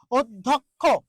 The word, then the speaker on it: অধ্যক্ষ: শিক্ষার্থী তারপর একটা জিনিস অধ্যক্ষ অধ্যক্ষ এই যে জ ফলা আছে দেখুন এই যে জ ফলা বলা হয়েছে জ ফলার আগে একটা অ আছে তাহলে এই অ এর উচ্চারণটা কি হবে ও হবে অ এর উচ্চারণটা কি